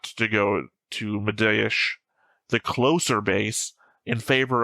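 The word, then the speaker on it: Mediaș: It's written M I sorry, M D I A S, but I think the S has that curve thing underneath it. And when Alfie pronounces it, he has an H at the end. So, it's Medish base.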